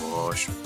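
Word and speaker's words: Woshua: Look at wash. That's what it's pronounced. It is pronounced wash.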